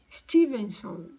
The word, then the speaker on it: Stevenson: É Ian, que se escreve I-A-N, S-T-V-E-N-S-O-N. Stevenson.